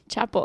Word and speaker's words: Chappell: maybe she does maybe she loves Chapel R Chapel that's how you say it mm Chappelle chapel